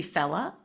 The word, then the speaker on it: Fally: my Hebrew name, and it's the reverse pronunciation of the letter Aleph. So Aleph is the first letter of the Hebrew Yeah. alphabet. To say that backwards would be Fella, and that's my Hebrew name.